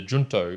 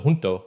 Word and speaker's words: Junto: the first one is the junto or perhaps it is better pronounced the junto because in junto in Spanish means together and so I'm going